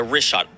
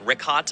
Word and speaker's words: Richat: The rishot.